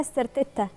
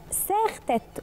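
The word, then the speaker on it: serre-tête: عندنا مثلا اللي بنقول عليها سيرتيتا. لا هي ساختت. وبرده في ناس بتغلط تقول لك اسمها سيرتت.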